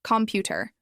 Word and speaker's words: computer: Again, 3 syllables, computer. Which one is stressed? It's the second one, computer. Not computer or computer, it's computer.